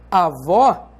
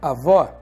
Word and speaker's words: avó: Por exemplo, se você diz avó, você sabe que esse O tem um timbre aberto e não um timbre fechado. E você sabe também que vó é a sílaba tônica da palavra avó.